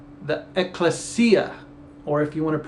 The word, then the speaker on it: ecclesia: about the community of Israel, it says the ecclesia, or if you want to pronounce it, ecclesia.